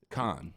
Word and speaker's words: Con: Pronounce your last name again? Con. I thought it was Cone. Is it Con? Yeah. Okay. I've been mispronouncing it all this time. I've only known them for years. It's fine. I've said Cone too many times.